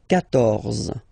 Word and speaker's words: quatorze: Then here, quatorze, so remember q and u here, well, basically you get to put this U vowel, because that's the rule in French, even if you don't pronounce it, okay, so you will get the sound K here, K, quatorze, quatorze, okay, same thing here,